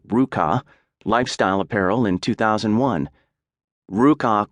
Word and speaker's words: RVCA: Looking for a fresh start on his own terms and timing, Hayes co-founded RVCA, pronounced Ruka, lifestyle apparel in 2001.